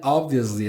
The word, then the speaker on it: obviously: Ob vi le não é li e nem vious.